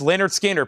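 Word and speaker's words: Lynyrd Skynyrd: First thing we have here is Leonard Skinner, pronounced Leonard Skard, Tuesday's Gone with the Wind.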